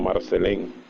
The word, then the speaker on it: Marcelin: Se llamaba Susana Marcelín, pronunciada en Haití como Marcelén, y era dominicana.